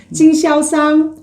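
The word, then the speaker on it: 经销商: 그리고 경소상은 징샤오상, 징샤오상, 징샤오상.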